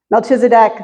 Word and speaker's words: Melchizedek: This enigmatic character named Melchizedek, it's pronounced a bunch of different ways. Melchizedek, the king of Salem.